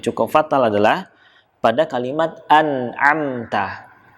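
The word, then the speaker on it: أنعمت: Huruf nun sukun ketemu dengan huruf ain, kita tahu bersama ini namanya adalah idhar. Namanya adalah idhar halqi. Ya, dia dibaca dengan jelas karena bertemu dengan huruf-huruf halqi atau huruf-huruf yang berasal dari tenggorokan ain. Maka nunnya harus dibaca jelas.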